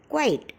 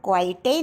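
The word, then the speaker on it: quite: Example है क्वाइट, rare, centre, stabilise, etcetera. क्वाइट में ई last में है तो हम क्वाइटे नहीं बोलते, हम बोलते हैं क्वाइट।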